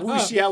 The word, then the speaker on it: wuxia: So wuxia would be like WOOSHIA, wuxia.